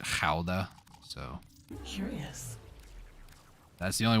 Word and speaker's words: Gouda: I mean, I say Gouda for what that's worth. I understand that people over there, I think, pronounce it Gouda.